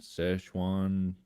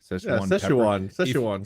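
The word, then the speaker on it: Szechuan: food yeah uh I don't know how you pronounce it but it's like s-z-e-c-h-u-a-n Sichuan Sichuan sauce if you like chew on the actual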